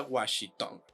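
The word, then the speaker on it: Wan Shi Tong: Tong se escribe wan shing Tong pero se pronuncia washitong Así que no es una amalgama de los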